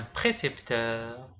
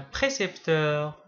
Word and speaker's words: précepteur: Quand vous remarquez, ces deux mots sont très proches au niveau de la prononciation mais il ne se prononce pas de la même manière. percepteur précepteur.